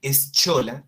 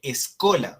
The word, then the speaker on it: schola: En lugar de leer eschola, se lee escola, o sea, la escuela.